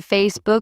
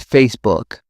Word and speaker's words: Facebook: I've heard people say Facebook with stress on the book. It's Facebook.